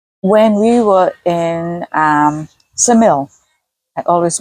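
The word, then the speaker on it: Ksamil: G okay the when we were in um samil I always mispronounce that no but that's correct pronunciation um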